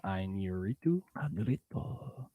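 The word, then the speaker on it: Iñárritu: How do you spell it? INA. That's it. It's Inarritu.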